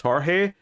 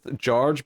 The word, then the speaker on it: Jorge: And I remember once saying to him, isn't your name supposed to be pronounced Jorge? And I think he just kind of went with George because he expected most people to just incorrectly say George, so he just sort